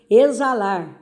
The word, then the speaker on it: exalar: Exalar, aí também, ó, exalar, som de Z.